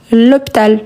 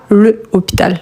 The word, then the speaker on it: hôpital: C'est un H muet. On dit l'hôpital et pas le hôpital.